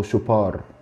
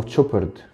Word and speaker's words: Chopard: النهاردة احنا هنتكلم عن شوبرت، LUC شوبرت او شوبار او تشوبرد. في ناس بتقولها تشوبرد عشان بتتنطق CH دي بتتنطق تش، شوبرت او شوبار هنا في مصر.